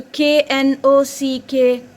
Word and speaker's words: knock: Here K is silent and it makes only the sound of N.